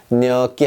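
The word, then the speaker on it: gnocchi: 뇨끼, 뇨끼, 감자수제비라는 뜻이에요. 감자수제비. 자, 뇨끼 하는데 앞에 G가 있으나 무시하고 그냥 뇨끼라고 했습니다.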